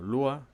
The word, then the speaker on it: Lua: Ellos los investigadores y desarrolladores lo explican aquí, que Lua, pronunciado Lua, significa moon en portugués, es decir, luna en portugués es Lua, y utilizaron ese juego de palabras para nombrar el lenguaje.